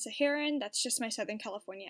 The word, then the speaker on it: Saharan: well aware of the fact that it's actually pronounced Saharan that's just my southern California accent coming through and saying siharan so I'm so sorry for that that's kind